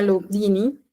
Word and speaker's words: Lugduni: Viene de Lyon, en Francia, que se pronuncia Lugduni, por eso se conoce como el Lugdunense.